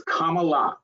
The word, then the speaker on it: Kamala: that's what damn it how do you say her name comma it's Comm like a comma it's Kamala K La Harris so that's